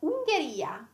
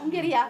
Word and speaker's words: Ungheria: Then we have Ungheria. What's Ungheria? Hungary. Yes. You're laughing. Yeah, Hungary. Yeah. You don't pronounce the H anyway. No, we don't have the H. Yeah, yeah, yeah. Ungheria.